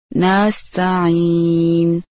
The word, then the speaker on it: نستعين: کو نستعین، نستعین نستعین۔ نمبر 3، عین کے تلفظ کا خیال نہ رکھنا، جیسے نستعین کو نستعین کہنا۔ پھر سے سنیے، نستعین